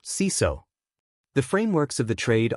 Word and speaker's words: CISO: Job titles include GRC Analyst, Risk Analyst, Compliance Analyst, Security Auditor, and, at the senior level, Chief Information Security Officer, or CISO, pronounced CISO.